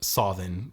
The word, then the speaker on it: Samhain: 2/3 of their milk, and then specifically to be given to them on Samhain, or Samhain would be the more Old Irish pronunciation, which...